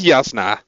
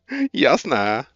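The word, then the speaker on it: Jasnah: Also, I'm sorry, in Dutch there's not a difference between the Y and the J. So we pronounce them the same way.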